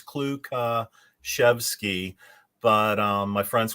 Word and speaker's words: Klukaszewski: mary for having me the uh correct pronunciation is uh four syllables it's kluka chevsky but um my friends